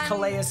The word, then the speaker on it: Calais: I believe it's Calais Campbell.